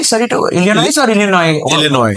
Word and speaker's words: Illinois: Illinois. Illinois. Right. S is silent.